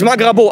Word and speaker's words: Magrabo: with francesca from magravo not magravo that's wrong don't say it wrong it's magravo otherwise she kicks me